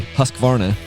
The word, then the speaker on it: Husqvarna: Notice how I don't say Husqvarna. I say Husqvarna. Because if you look at how it's spelled, it's Husqvarna. It's supposed to be that sweet.